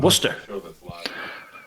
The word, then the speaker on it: Worcester: great this is from I believe it's pronounced Worcester and in Worcester and I've got a question for both of